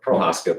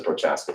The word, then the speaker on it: Prohaska: Prohaska, but everyone says Prochaska, so you feel free to say whatever.